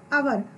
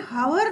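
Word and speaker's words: hour: तो इस प्रकार से जो शब्द हम ले रहे हैं एन आवर, हम एन हावर नहीं बोल रहे हैं, हम क्या बोल रहे हैं, एन आवर। यहाँ पर एच क्या हो गया है, साइलेंट हो गया है।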